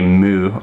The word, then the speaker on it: MØ: in the like even in the press refer to as mo but if I found it's a little kind of disingenuous or kind of like not considerate to pronounce her name like that far off as I know even she will try and say mu or mu when given the shot